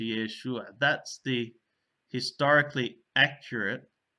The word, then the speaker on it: Yeshua: The name had changed in pronunciation to Yeshua.